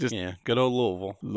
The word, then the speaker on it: Louisville: Good old Louisville. Louisville. You got you got to say it like you have gravel in your mouth.